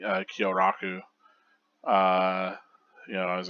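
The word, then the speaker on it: Kyōraku: is you pronouncing uh kyoraku uh you know I was like you're kiraku and I was like no that's not quite it is it uh I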